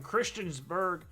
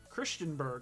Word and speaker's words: Christiansburg: the chud hailing from christiansburg christenburg christiansburg i said it right the first time christiansburg virginia last season